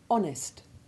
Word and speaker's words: honest: from the same root, in all of which the initial H is silent. Listen. An honour, honourable, honorific, honorary, honorarium, honest, honesty.